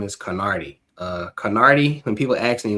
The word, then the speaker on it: Knardi: My brand name is Carnardi.